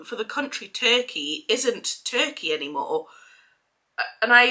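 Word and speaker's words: Türkiye: now so it's spelled t-u-r-t-k-i-y-e um and it's pronounced turkey so yeah I didn't know that um and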